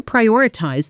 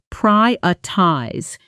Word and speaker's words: prioritize: Say it with me, noticing the stress on the first syllable. Mhm. Prioritize. Prioritize. Let's add a phonetic note here because this word is a perfect example of natural syllable reduction. In fast, casual speech, prioritize often sounds closer to priotize with the middle syllables softened almost to nothing.